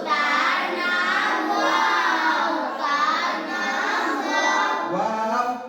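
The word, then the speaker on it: واو: নাম ওয়াও তার নাম ওয়াও উচ্চারণ কেমন হবে ওয়াও উচ্চারণ করতে হবে ওয়াও দুই ঠোঁটের মাঝের ফাঁক হতে আদায় হবে ওয়াও দুই ঠোঁটের মাঝে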